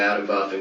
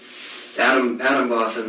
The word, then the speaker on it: Atomwaffen: dedicated, huge numbers of Adam Buffen guys on there, and you know, I remember Adam Buffen, like I say Buffen because it's like Buffen is in arms.